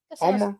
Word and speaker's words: Balmoral: Balmoral? Yeah. Yeah, Island Beach And, with the South, we're like Armorall. So it kind of sounds like Armorall.